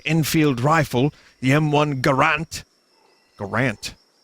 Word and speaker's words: Garand: Garand. It's Garand, isn't it?